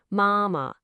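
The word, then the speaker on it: 妈妈: Now let's try mom using a high flat first tone, mama.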